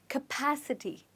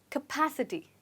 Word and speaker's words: capacity: we pronounce it so this word cap is actually not pronounced as cap here it's pronounced as cup capacity try it again capacity well done okay let's